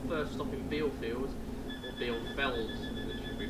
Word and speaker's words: Bielefeld: way to our first stop in Bielefeld, or Bielefeld, as it should be pronounced.